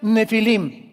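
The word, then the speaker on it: Nephilim: Nepilim se pronuncia nefilim y significa caídos.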